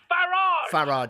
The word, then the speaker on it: Farage: Farage. Pronounce it the British way.